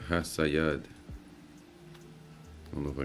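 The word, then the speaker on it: חָסִיד: And how you say it is Hasayad. All right, Hasayad.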